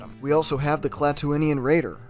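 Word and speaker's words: Klatooinian: we also have the clattonian raider or is it cletunian that's how they say it in book of boba fett but it's spelled clad twinion either way this is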